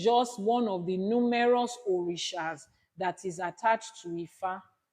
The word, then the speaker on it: orisha: Ogun is an orisha. They don't need for orisha. Just say orisha. It's easy. Orisha. Just say it like that. Say it. It's easy to pronounce.